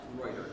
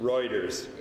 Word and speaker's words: Ruetter: Let's pronounce Ruetter, like the news agent. Reuters. Got it, Ruetter.